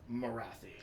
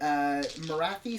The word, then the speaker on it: Morathi: Because Morathi rhymes with wacky. Wacky? Or taffy, which are things that are all totally inappropriate. Morathi sounds much more like King Arthur kind of fantasy.